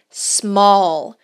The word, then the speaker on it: small: Preste atenção aqui na pronúncia de small. Small. Essas palavras que começam com S no inglês, a gente tende, como brasileiros, a adicionar um som de vogal que não existe, tá, pessoal?